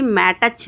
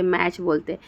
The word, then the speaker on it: match: मैच, MATCH, मैच में मैटच नहीं बोलते, मैच बोलते।